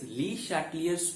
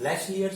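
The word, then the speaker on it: Le Chatelier: Hello friends मेरे पिछले lecture में हमने देखा what is ली शैटलियर्स principal. Actual उसका प्रोनाउंसिएशन लेशलियर्स प्रिंसिपल होता है, लेकिन Indian pronunciation it's okay, ली शैटलियर्स principal.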